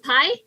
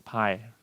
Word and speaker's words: Pi: The Life of Pi? Yeah, the Life Pi. Pi? It's pi, not P.